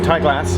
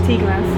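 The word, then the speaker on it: Ty Glas: two stations on the whole network between between Tylass. Tasslass. Tasslass. Thank you. Why has it got Y it then between Tasslass pronounce it and Birch Grove?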